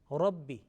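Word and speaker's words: رَبِّ: Now here Ra with the fatha, and it will be pronounced with a thick sound, Rabbi. Okay, you see the Ra, for example, as we say R-A-W is a English word, or Ra. Okay, it's Ra, little bit mufakham and with heavy quality, Ra.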